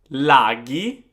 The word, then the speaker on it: laghi: So CH and GH is a K and G sound. For example, chi or che, amiche, amiche, laghi, laghi, traghetto, traghetto.